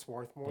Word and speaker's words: Swarthmore: you mentioned that swarthmore is that how it's pronounced swarthmore that's right yeah um you you loved your